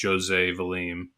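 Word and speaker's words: José Valim: And the guy that kind of is one of the spearheaders of that is a guy named, I think it's pronounced Jose Valim.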